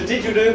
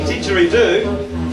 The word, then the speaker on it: didgeridoo: There is a didgeridoo player over there. So say didgeridoo, four syllables.